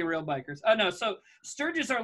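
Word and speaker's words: Stirges: Literally, it's called Sturgis. Well, it's S-T-I-R-G-E-S, but I think you pronounce it like, you know, the bike rally that got everybody saying.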